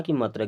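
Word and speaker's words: come: का उच्चारण केवल छोटा की मात्रा की तह हो रहा है जैसे एस ओ एम ई इसे पढ़ना है सम सीओ एम ई इसे पढ़ते हैं कम डी ओ एन ई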